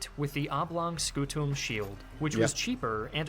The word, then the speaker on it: scutum: When we try, because in ecclesiastical pronunciation is fine to pronounce the M, not a problem, but in classical the M should be almost non-existent. It should be scutum, just mildly nasalized, and he did it right.